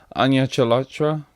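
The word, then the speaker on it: Anya Chalotra: does star Henry Cavill onion Elektra that's how you say it and Freya Allen this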